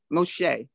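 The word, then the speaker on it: משה: are doing great we have moses here moshi moshe now this one is going to be a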